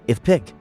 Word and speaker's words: IFPC: For Americans, it's conveniently pronounced if pick. Strictly speaking, that's not incorrect.